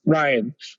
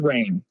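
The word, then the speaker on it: Rian: all the time and I know it's pronounced Ryan but every time I read it because of how it's spelled my brain says rain are you dyslexic there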